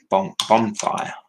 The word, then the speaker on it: bonfire: All because my mum mispronounced bonfire. So instead of saying it with an N, she said it with an M.